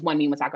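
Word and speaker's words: Wunmi Mosaku: um what's her name how do you pronounce it one me masaku i think it's one memo soccer i feel like that's how you pronounce it so w-n-m-i yes so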